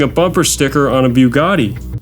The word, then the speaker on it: Bugatti: Attaching a bugoo to one is like placing a bumper sticker on a Bugatti. It's pronounced Bugatti.